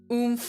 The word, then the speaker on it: oomph: Oomph with 2 F's, one of my flower friends. I gotta start using that. It's spelled oomph, and for the other meaning. Yes, yes. Oomph, like ooh miles per hour.